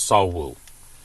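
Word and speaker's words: 석우: It's pronounced S E O K or it it's spelled S E O K, but it's pronounced Saul Woo.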